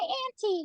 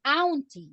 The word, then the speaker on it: auntie: you know tomorrow my auntie will come to my house or auntie so we don't say ATI the pronunciation is aunti a word for children